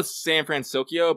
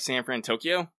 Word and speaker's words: San Fransokyo: Marvel collab yeah yeah I know San fransokyo but I like San Fran Tokyo yeah there's no T in it though I know I still